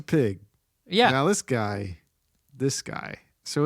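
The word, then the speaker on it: Pyg: Now, you wrote it down and you said Professor Paigi. No, that's just how it's that's how it's spelled in the comic books. I know. It's Professor Pig.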